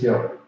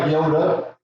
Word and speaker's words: Yoda: No, it's Yoder. I think Gandhi's there. I don't know anything about Star Wars. I just know he's. No. And he didn't even say it like that. He said it like Yoda.